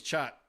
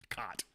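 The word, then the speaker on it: khat: Patrick said that the secret ingredient was chat. That's the way it's pronounced in Somalinga, not cot.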